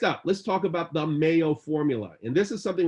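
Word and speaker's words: MAO: So Mayo. First of all, the word Mayo, and it's spelled M-A-O, not like mayonnaise.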